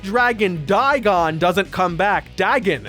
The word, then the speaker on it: Dagon: Dagon is his name and how it's pronounced, actually.